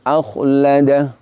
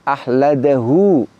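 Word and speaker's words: أَخْلَدَهُ: Yahsabu anna ma lahu akhladah. Akhladah aslinya adalah ahladahu. Dalam keadaan wasol hu-nya dibaca panjang. Namun dalam keadaan waqaf huruf wawunya tidak lagi ditetapkan, dihilangkan secara bunyi, secara bacaan, lalu huruf haknya disukun.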